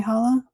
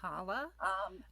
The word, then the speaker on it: challah: Now, the first letter of the word challah the word challah um, makes a sound that we're not quite used to in English. So, in English we're used to a glottal glottal H. Ha. Ha. Kind of almost like you're hacking up a piece of phlegm.